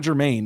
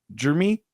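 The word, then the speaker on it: Jeremiyah: Is it It's not Jermaine. It's Jeremy. Like how do you pronounce it? Jeremy. Like it's like Jeremy, except they spelt it unfortunately.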